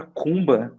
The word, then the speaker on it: Kuumba: pra gente legal cara assim é a palavra cumba né ela vem de origem africana né que